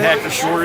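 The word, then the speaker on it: Hacker-Pschorr: Hacker, you say Shore? The P silent, like Hacker Shore? Is that how you say it? Hacker Shore, yeah, sure.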